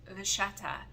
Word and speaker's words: vachetta: Now, I noticed in the US, they call it vachetta. However, if you're in Italy or Australia, it's called vachetta, because the CH is pronounced as a K, I want to say.